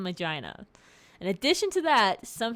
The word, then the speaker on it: Magina: Now, that could be pronounced Magina, but I've always called him Magina.